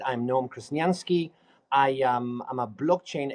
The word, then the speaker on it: Noam Krasniansky: first I you say my name right I'm Noom kranski I am I'm a blockchain expert because I